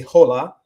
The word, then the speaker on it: hola: So you don't say hola.